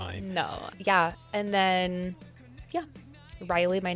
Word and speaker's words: Ryelee: And then yeah, Riley, my name is spelled super weird.